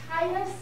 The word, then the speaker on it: Titus: Titus has two T's in it. Titus. It's hard to pronounce it, to overpronounce it.